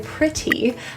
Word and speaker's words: pretty: The two T's in pretty are pronounced as a flap T. Sounds like a quick little D.